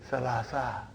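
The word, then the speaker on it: ثلاثة: So that is why you have salasatun. But in pronunciation we will say salasa.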